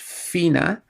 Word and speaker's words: Fiona: it's very clear that that's supposed to be pronounced Fina.